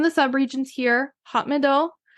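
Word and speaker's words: Médoc: sub regions here hot Mido mid which is m e d o c I'm not pronouncing the C because I don't think you're supposed to and grvs so these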